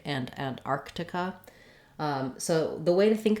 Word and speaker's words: Antarctica: So the main error that I hear in these words is that people will sometimes leave out this first k sound. They'll say it more like Arctic or Antarctica instead of Arctic and Antarctica.